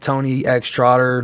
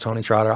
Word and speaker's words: TonyxTrotter: You can find it, Tony X Trotter. That's what you search, but it's pronounced Tony Trotter, obviously.